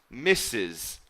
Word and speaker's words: Mrs: so mrs is pronounced missus and that's for a